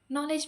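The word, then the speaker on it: knowledge: इतनी बुरी थी कि मुझे ये नहीं पता था नो में के साइलेंट होता है. आई यूज to pronounce it नो. नॉलेज में के silent. I यूज to pronounce it नॉलेज.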